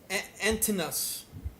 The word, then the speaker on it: Antinous: Yeah, it's It's I'll tell you exactly. it's It not is Antinous. Antinous.